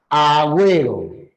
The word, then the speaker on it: Agüero: significa que se rompe si se pronuncia la u en Agüero Agüero quiere decir que ue es un diptongo Entonces no lo puede